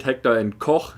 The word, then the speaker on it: Heckler & Koch: And yes, that is how you say it, Heckler and Koch, not Koch. There's a video on YouTube that explains that Koch is pronounced Koch, which is complete nonsense.